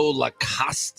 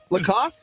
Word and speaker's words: Lacoste: A lot of alligator logo Lacoste, I think that's how you say it, shirts out there. Lacoste? You don't pronounce the last vowel.